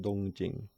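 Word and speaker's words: 東京: Both readings are in on'yomi, that is to say, Chinese readings, and the same word in modern Chinese would be pronounced Dōngjīng.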